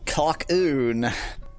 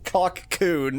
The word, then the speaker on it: Cocoon: Let's play sleeping cockon. Wait, I I pronounced it as if to mock my own spelling, but then I emphasized it the wrong way. So, oops. Cockcoon is what I meant to say.